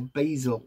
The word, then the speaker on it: basil: We've got the Abundance Herb Blend, a magical blend of mint, vervain and basil, or basil, as the Americans say.